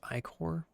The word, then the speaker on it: ichor: Somebody told me that's pronounced ichor, but I think that's bad. I'm just going to pronounce it ichor.